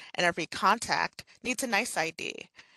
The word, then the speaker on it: NYC.ID: every contact needs a nice ID it's spelled nyc.id but it's pronounced nice ID a nice ID is